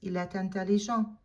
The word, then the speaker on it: est intelligent: Make sure that you do the liaison, because eh ends in a silent T, and intelligent begins with a vowel. You're gonna lace them together and you're gonna pronounce that final T.